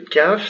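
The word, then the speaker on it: كاف: Le kaf, c'est cette lettre-ci, se prononce très simple, se prononce comme un K.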